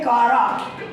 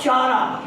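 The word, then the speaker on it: Chara: तो उन्हीं cell, राइजोइडल cell में, जिसको हम बोलते हैं कारा, कारा और चारा, आपकी मर्जी, वॉट एवर यू प्रोनाउंस, इसमें फ्यू हंड्रेड गॉल्जी बॉडीज होती हैं, फ्यू हंड्रेड गॉल्जी बॉडीज इसमें होती है।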